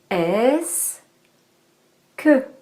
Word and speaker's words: est-ce que: de la conjonction que on le prononce en deux syllabes est-ce que et est-ce que c'est